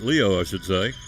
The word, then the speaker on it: Liu: Leo, will wear number 14. Ty Liu, spelling, pronouncing Leo.